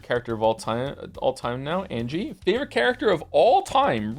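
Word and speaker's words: Ange: Glad you have gotten to my favorite character of all time now, Angie. Favorite character of all time, really? I'm here to tell you her name is pronounced Enje.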